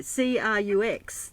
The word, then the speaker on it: Crux: Yeah, C-R-U-X, that's what they call the Southern Cross here. They call it the crux? Is that they pronounce it crux? Yes, or how do they yes, yes, yes.